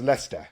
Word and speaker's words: Leicester: And the guy next to me just says, "It's pronounced Leicester."